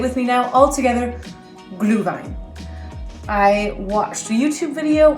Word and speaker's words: Glühwein: Say it with me now, all together, Glühwein. I watched a YouTube video on how to pronounce this German mulled wine about 7 times.